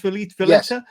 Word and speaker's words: Valletta: Gianni Valletta, I'm guessing that's pronounced Valletta. Yes.